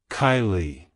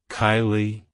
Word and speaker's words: Kiley: origin it's pronounced as Kylie Kylie Kylie to pronounce it correctly emphasize the first syllable k i e and then lightly pronounce the second syllable Lee like hello Kylie goodbye